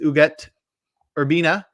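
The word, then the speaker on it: Ugueth Urbina: get there um this week our closer is uget urbina um that is how it's pronounced urbina had an 11year career from 1995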